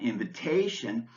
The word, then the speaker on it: invitation: a CH sound cello the TI in sensational and invitation is pronounced like the SH sound Shh and the s in